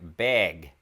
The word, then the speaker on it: bag: Northern Midwestern English is the way they pronounce the word bag right it's not bag it's more like beg beg as into to beg for food to me this might